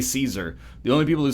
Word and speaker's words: Caesar: not great foreign policy do you Americans actually pronounce it as Kaiser no we say Caesar the only people who say Kaiser are like actually in the through Latin pronunciation